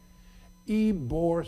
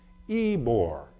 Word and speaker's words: Ybor: you bought far water get my name changed put a why so that the Americans can pronounce Ybor so mr.